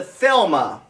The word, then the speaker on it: Thelema: right now it is i hope i so say this right but it's called the thelma 80 watt pod mod pod mod yes i did say it right 80 watt pod mod